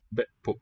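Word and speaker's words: be'pu': Be pu with the same suffix. Bet poop. So two syllables, both ending in glottal stop. Load. Lord poop. Bet poop. Be pu, keeping the vowel short.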